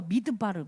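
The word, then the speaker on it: מדבר: 미드바르 미드바르 미드바르라 그래요.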